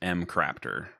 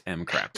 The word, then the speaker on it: McRaptor: The proper way to pronounce my name is McRaptor. If you guys didn't know that, it's McRaptor.